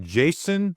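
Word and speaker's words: Jaison: We got Jason Williams and his name is spelled J A I S O N Williams.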